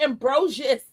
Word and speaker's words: Ambrosius: It's the S in her name.